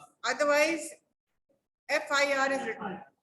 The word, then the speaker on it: FIR: Otherwise, FIR is written. F is pronounced with an E sound, which is a vowel sound.